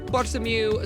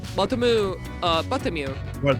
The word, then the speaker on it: Bartholomew: No, it's not Bartholomew. No. There's no TH. Okay, Bartholomew. But it's, you know, it does. There's no TH, but, you know, that doesn't stop the pronunciation. It's not Bartholomew. Also, Bartholomew includes an L. What?